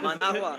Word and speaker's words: Managua: Managua.